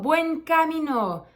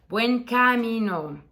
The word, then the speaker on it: Buen Camino: see another Pilgrim not Buen Camino it's buen kamino Buen Camino so yeah not buen kamino um what are things